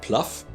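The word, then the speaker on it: Plough: his agent jane plow who insists her last name is pronounced pluff is not really good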